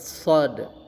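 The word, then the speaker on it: صاد: Kemudian huruf selanjutnya adalah huruf shad. Nah, ee bentuk mulutnya dibulatkan ya sh karena bunyi huruf O. Kemudian napasnya dikeluarkan shod. Nah, jadi ada pantulannya shaod ya.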